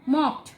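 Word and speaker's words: mocked: মকড, মকটা একবারই উচ্চারণ হচ্ছে, এটা মনোসিলেবিক। যেগুলো একবার উচ্চারণ হয় সেগুলোকে আমরা বলি মনোসিলেবিক।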